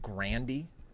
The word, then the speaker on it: Grande: you know that actually in their family they pronounced their name Grandy really you imagine the